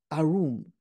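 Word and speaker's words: עָרוּם: And that's the Hebrew word arum. You can even hear the pronunciation.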